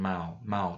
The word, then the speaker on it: mau: Say it like German mau, to want or to plan to do something.